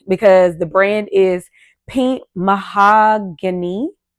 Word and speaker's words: Mahogany: So the name technically drew me because the brand is Pink Mahogany. I'm trying to say it correctly and not say it like my name because it's Mahogany. So it's Hany versus just being Any.